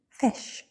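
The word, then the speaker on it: ghoti: But what if we were to say that the GH is pronounced like tough? The O is pronounced like I, as in women, and the TI is pronounced as in nation. Then we get a word that is pronounced fish. Now obviously we don't pronounce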